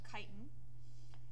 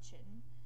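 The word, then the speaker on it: chitin: they have a cell wall made out of kiten and that's pronounced kiten not chitten and heterotrophic not only are they heterotrophic but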